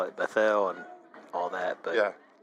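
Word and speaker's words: Bethel: the one in Tennessee mhm that that's bethl bethl yep they they call it bethl I know people call it bethl and all that but yeah I'm from that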